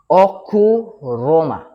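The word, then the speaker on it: ὀχύρωμα: Okiroma or Okuroma. But if you read it outright, Okairoma or Roima, Okairoima, but the pronunciation is Okuroma.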